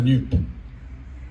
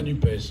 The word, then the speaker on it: NUPES: On ne dit pas NUPES, hein. On le sait parce que l'Académie française a dit hier qu'il fallait prononcer cela comme on prononce JUP. Comme on ne dit pas JUPES, on dit NUP.